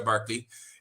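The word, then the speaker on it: Berkeley: Virginia William barkly o se escribe berly pero se pronuncia barkly era Aliado de ciertos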